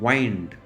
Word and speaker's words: wind: आणि WIND spelling तेच आहे, पण प्रोनाउन्सिएशन डिफरंट आहे. वाइंड, वाइंड अप the clock, वाइंड अप the session असं म्हणतो की नाही आपण, म्हणजे गुंडाळणे, पिळणे वगैरे.